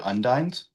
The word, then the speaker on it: undine: I've always pronounced it undines.